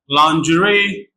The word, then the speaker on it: lingerie: We have the word lingerie, in which I can be pronounced ah.